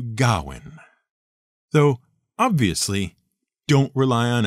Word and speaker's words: Gawain: a welsh name spelled g-a-w-a-i-n the one thing you can be absolutely sure of is that it isn't pronounced gawain it's much closer to gowin though obviously don't rely